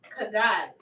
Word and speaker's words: Haggai: You pronounce Haggai as Haggai. Haggai.